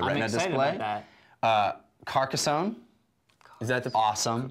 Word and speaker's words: Carcassonne: Carcassonne. Is that the awesome correct pronunciation?